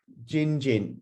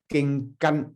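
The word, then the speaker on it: 經筋: the blue strips are jin, right, or ging, right, ging gan in Cantonese, ging gan, jin. I know it's quite near the pronunciation of Mandarin, but I'm a Cantonese, I use ging gan ho.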